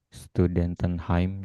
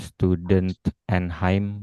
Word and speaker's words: Studentenheim: harus tahu penggalannya ya studentenheim jadi agak Y ya se si bacanya nyambung ya cuman tidak asal nyambung bukan student andheim bukan itu ya studentenheim jadi agak-agak ada ada jedanya mm itu ya kira-kira